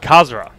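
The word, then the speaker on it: Khazra: by the yzo Pirates kazra k h a z r a I believe is the pronunciation for those the uh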